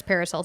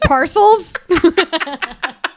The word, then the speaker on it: parcels: smaller shipment such as paracels and documents H paracels it's okay did you say paracels paracels oh is it Parcels like I'm like the